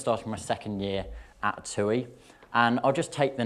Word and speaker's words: TUI: TUI is how you pronounce it, and the palm trees in the background should provide a good idea as to what we sell.